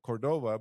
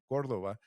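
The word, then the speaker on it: Córdova: I'm going to say it in English, Cordova, but it's I think is pronounced Cordova. And then we also have her partner, which is Francisco de la Cruz.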